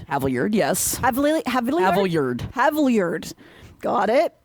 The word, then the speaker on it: Havilliard: Dorian Havilliard. Haviard.